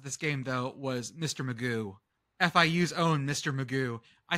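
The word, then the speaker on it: McGough: game though was Mr Magoo fiu's own Mr Magoo I started calling him Mr magooch I think that's funnier it's pronounced Magoo it's mcg-o-u-g-h magooch is funnier so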